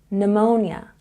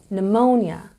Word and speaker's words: pneumonia: psychology and here again we have silent P this time it comes before the letter N so we pronounce this word pneumonia and we have a stress again on the second syllable pneumonia pneumonia number nine is